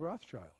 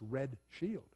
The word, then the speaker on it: Rothschild: not they're idumeans most of us think of Roth's child we think of Roth's child we don't pronounce it properly it brought Shield it's red shield it's has an Edomite root so does Rockefeller